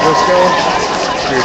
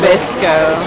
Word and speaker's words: Bisco: Is it at Briscoe? It's Bisco. There's no R.